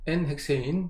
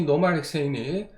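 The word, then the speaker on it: n-헥세인: 우선은 알 수 있는 방법은 뭐냐면 물하고 뭐가 N헥세인, N이라고 읽는데 사실은 이제 노말이에요. 노말에 이니셜을 따서 우리가 N헥세인, 노말 헥세인이라고 읽습니다. 층을 이루죠. 그러면서 그래서 식용유와 마찬가지입니다. 마찬가지로 물하고 헥세인이 특히 노말 헥세인이 N헥세인이 물하고 층을 이룬다는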